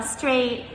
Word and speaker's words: straight: Again, this one uses GH, but without the OU letters beforehand. So we spell straight S-T-R-A-I-G-H-T.